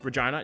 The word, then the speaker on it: Regina: We're going to Regina, the name of the city that rhymes with bun, not Winnipeg.